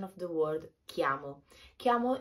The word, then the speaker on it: chiamo: of the word kiamo chiamo is a particular sound it's like the key sound that you open that